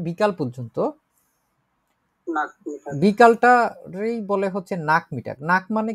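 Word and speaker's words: Nachmittag: তো এটা হচ্ছে নাক মিটাক, এটা হচ্ছে লাঞ্চের পরে বা বিকাল, আমরা যে কথাটা বলি বিকাল। নাক মিটাক বলেন উচ্চারণ করে, নাক নাক মিটাক, নাক মিটাক।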